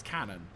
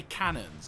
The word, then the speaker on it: cannon: say cannon is because the actual correct grammatical pronunciation for the term of multiple cannon is cannon it's one of those weird words that for some reason don't most people just say cannons even professional enterprises say